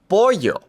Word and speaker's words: pollo: carro The double l makes a y sound in English. pollo n y sounds like an n and a y put together.